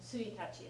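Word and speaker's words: ついたち: know, January 1st, ichigatsu, and then tsuitachi is how you pronounce the first of the month.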